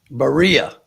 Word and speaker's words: Berea: I think Berea can get this job done. Berea. I'm going the basketball player, Berea. I think if our friend Carson was on here, she would agree with the Berea pronunciation.